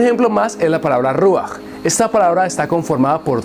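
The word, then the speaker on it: רוח: Por eso pronunciamos ruach y no rujá.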